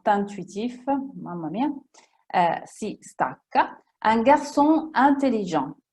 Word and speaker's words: un garçon intelligent: Un garçon intelligent. Qui non si prolunga il suono della N con la I, sono staccate, due parole staccate.